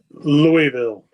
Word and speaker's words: Louisville: Can you uh just for people out there that need to know how to pronounce it correctly, can you can you hit us with that one more time? Louisville.